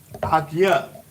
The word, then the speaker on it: ISUPK: So my brother is I.S.U.P.K. Yeah. And it's pronounced just like that. I.S.U.P.K.